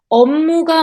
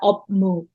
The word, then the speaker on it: 업무: situration 특히 이스페셜리 especially 업무가 많고 업무 업무 It's pronunciation is not up move It's task가 되겠습니다